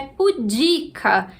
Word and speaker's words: pudica: de pudores de novo dá vontade de falar pública mas na verdade a pronúncia é pudica é uma palavra paroxítona a língua portuguesa tem